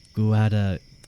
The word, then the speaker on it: Guadalquivir: And now we're talking about the Battle of Illapa, down there by the Guadalquivir River. Yes, I pronounced that correctly, trust me.